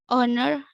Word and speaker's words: honor: That does not happen all the time, and there are certain words in English where it's possible to drop the H, and we don't pronounce it. Words like honest, honor, air, and hour.